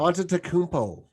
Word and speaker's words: Antetokounmpo: Can you pronounce his last name, or do you just call him Giannis? Antetokounmpo.